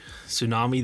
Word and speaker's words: tsunami: Tsunami, the T is silent.